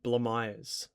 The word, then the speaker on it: Blamires: Dyson Sharp, Jack Carroll, and Tom Blamires, pronounced like that. He the North Melbourne social media team put a video out on it because so many of us YouTubers were saying it wrong.